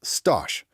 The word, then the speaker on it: stage: Before you get a paid job, there is the stage, pronounced stosh.